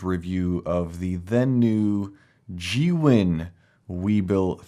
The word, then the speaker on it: Zhiyun: you a brilliant review of the then new g-win we built 3 and it's now time for an update and yes that is the correct way to say it g win and I've been saying it wrong my entire